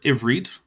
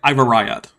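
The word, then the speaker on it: עברית: So, for instance, a Black Hebrew Israelite eh? would pronounce the word Ivrit, Hebrew, probably something like Ivarayat.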